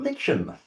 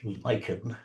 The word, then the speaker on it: lichen: And we've got lichen. My god, what a lot of lichen. Notice I'm pronouncing it correctly. Lichen. None of this American rubbish. Lychen.